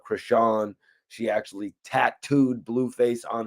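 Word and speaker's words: Chrisean: thing with, I believe that her name is pronounced Krishan.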